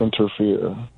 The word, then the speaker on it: Enterfear: We're just talking about fear, but it's one word and it's spelled like ENTERFEAR. Interfere. I'm entering fear, and at the end of the album, I want to exit all those motherfuckers.